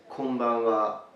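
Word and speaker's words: こんばんは: Good evening in Japanese is konbanwa, konbanwa. So let's break it for pronunciation. Ko, n, ba, n, wa. Konbanwa, konbanwa.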